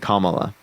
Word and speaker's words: Kamala: Kamala. Did I pronounce that correctly this time? Yeah, Kamala.